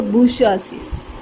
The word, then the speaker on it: bourgeoisie: So, the third estate consisted of the peasants, workers and the bourgeoisie. B-O-U-R-G-E-O-I-S-I-E. You should pronounce it as bourgeoisie.